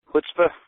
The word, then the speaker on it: chutzpah: Chutzpah? Chutzpah.